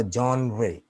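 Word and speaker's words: genre: जॉनरे या जॉनरे, right, इसका सही प्रोनाउंसिएशन इस तरह से, मैं सुनवाता हूं आपको।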